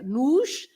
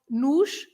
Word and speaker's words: nos: and so you pronounce the O at the end is always pronounced like U, and in this case is the plural, it takes an S, so you just say another S, nos, the sh at the